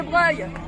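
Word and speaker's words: Broglie: Est-ce que vous savez que l'hôtel de Breuil, qui s'écrit B-R-O-G-L-I, mais qui se prononce hôtel de Breuil, il a été acheté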